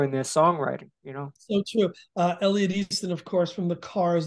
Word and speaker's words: Elliot Easton: I can't pronounce it. Is it Easton? Yeah, Elliot East. Elliot Easton.